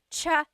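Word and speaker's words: tsaa: that you drink and it's spelled TSA a cha cha that's such a talug spelling I love it there's the TS sound and then the double vowel uh pronunciation cha it's so talog yes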